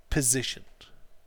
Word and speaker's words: position: his jacket his piss positioned okay say his piss not piss piss no no it's a zed sound at the end that's piss we need his